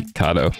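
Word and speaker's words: Kato: different companies and it seemed like I saw KO mentioned a lot I'm assuming that's how you say it it's not like something weird like kado watch it be kado oh my God it is pretty pronounced kado you guys yo it's a Japanese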